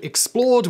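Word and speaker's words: XPLRD: Just before we jump into today's video, I do want to mention another channel that I run called Explored, which is spelt X-P-L-R-D because apparently I hate vowels.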